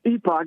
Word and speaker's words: Epoch: You can pronounce it epic or epoch. It don't matter. Right. Yep. It's either way.